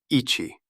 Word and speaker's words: 一: It is pronounced Ichi, and it is written with a single horizontal stroke from left to right.